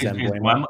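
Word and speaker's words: Mbeumo: You like him more than Burmo, who everybody pronounces as Embuemo?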